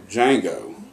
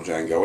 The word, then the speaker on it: Django: Django tells him and he tells them the D is silent and the gangster looks